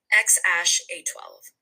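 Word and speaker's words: X Æ A-12: his name really made headlines, and it is pronounced XAsh A12.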